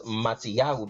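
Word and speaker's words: Mattityahu: it reaches a righteous as mattiyahu because that's the right pronunciation for the book of Matthew one tells you in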